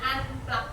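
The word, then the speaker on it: unplugged: Berpikir komputasional dan aktivitas anplak. Bacanya anplak.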